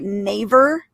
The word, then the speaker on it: Naver: by, am I going to say it right, Naver? You think that's the right way to say it? Naver? Okay. Yes. They were just bought out by Naver.